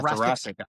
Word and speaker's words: thoracic: Yeah, thoracic. Like Jurassic. Dude, Thoracic listen, outlet I've been syndrome. watching the dinosaur Netflix series with my kids, so I like know all about that. Thoracic, all right?